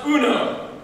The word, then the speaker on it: Uno: there sorry sorry Uno it's pronounced Uno who the new are